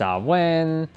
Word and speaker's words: Samhain: of times and two boys say oh it's pronounced Alwyn sophist it says salween you know people always